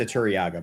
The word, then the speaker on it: Turiaga: And the pitcher is pronounced Turiaga, by the way.